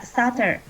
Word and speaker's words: subtle: Yeah, stutter. Subtle. And be here. You do not have to pronounce. You only pronounce this word like stutter.